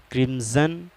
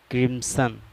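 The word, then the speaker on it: crimson: ہیں۔ بلو معنی نیلا، کرمزن کرمسن دونوں تلفظ ہیں اس کے۔ کرمزن معنی گہرا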